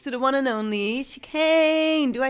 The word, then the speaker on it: Chicane: and I'm next to the one and only she can do I say pronounce it right it's right yeah you can